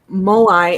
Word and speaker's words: Moai: So we've got Moai is the pronunciation, says Gibson.